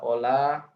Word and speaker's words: hola: Dan ini ada Ola bahasa Spanyol. Ini bacanya jangan hola ya. H di sini silent, dia tidak dibaca, tapi Ola.